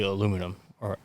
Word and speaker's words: aluminium: just straight to the aluminium. Aluminium. Aluminum. I can't even say it wrong. Aluminum. We're in America. It's aluminum. I tried. The British say aluminium.